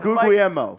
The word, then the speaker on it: Guglielmo: How did you say that? Guglielmo? Because I've never known how to say it, so I only call him MG. And since my initials are MG, his are MG, I say he's got the best initials in the building. Hey, that works. I will say, New York, where I'm from, nothing but Italians. I know how to pronounce all the names. So Mike Guglielmo.